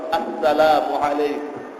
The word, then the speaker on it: আসসালামু আলাইকুম: দেই অশুদ্ধ, হযরত বলতেন সালামের আগে প্রথম হরফ হলো হামজা, এটা আমরা উচ্চারণই করি না, মিমের পেশ উচ্চারণ হয় না। উনি বলতেন এভাবে বলো, আসসালামু আলাইকুম।